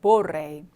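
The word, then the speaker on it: vorrei: 이제 보카를 한번 보시면 모레이 레가 두 개죠 모레이 그래서 발음할 때 보레 보레이 그래서 볼의 동사가 원하다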